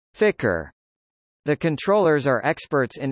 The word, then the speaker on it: FCR: now is called the Flight Control Room (FCR), pronounced Ficker.